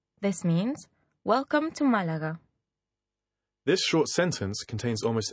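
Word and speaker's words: Málaga: arrived is Malaga Malaga quite clearly the stress here is on the first syllable if you look at the word Malaga you'll notice that there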